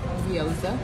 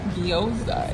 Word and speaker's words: gyoza: How you pronounce this again? Gyoza. Gyoza.